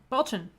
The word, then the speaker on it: Balchin: Oh, and has said my husband's last name is pronounced Balchin. Balchin.